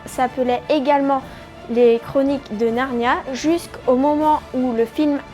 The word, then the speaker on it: Narnia: Et pour deuxième information, Narni est une ville en Italie et le nom latin se prononce Narnia, d'où Le Monde de Narnia.